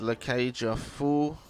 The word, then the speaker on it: La Cage au Fou: that's the main quest La Cage a fool completely diff that's how you say it got a new quest